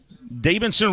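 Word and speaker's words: Deibinson: Davidson Romero at the plate. This one low and away. Romero, 255 batting average. Interesting spelling to the name. D-E-I-B-I-N-S-O-N. Davidson, first name.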